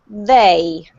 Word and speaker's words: they: with the TH sound, you actually need to put your tongue in between your teeth. So you have to put your tongue right in between your teeth to pronounce the word they.